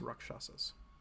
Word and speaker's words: Rakshasa: Rakshasas?